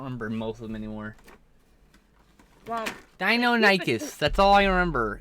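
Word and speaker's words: Deinonychus: most of them anymore dinonicus that's all i remember that one's pronounced dino nicus even though i never it up i always it up dino nicest they do keep discovering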